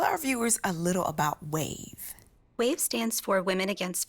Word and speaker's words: WAV: One of the groups is Women Against Violence, WAV, pronounced as WAVE.